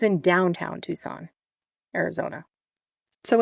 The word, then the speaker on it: Tucson: Isn't it Tuscan? Tuscan? It kind of looks like that, doesn't it? It sure does. Okay, so it's in Tucson, Arizona.